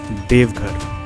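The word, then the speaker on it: देवघर: কমেন্টে জানাতে ভুলবেন না দেওঘর জেলা হিন্দিতে যার উচ্চারণ দেবঘর বা দেবকা ঘর পূর্ব ভারতের ঝাড়খন্ড রাজ্যের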